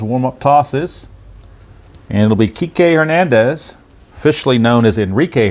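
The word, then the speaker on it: Kiké: However, when they use his name, they've got the accent on the final E, so you can see it's pronounced Kike and it does not rhyme with bike.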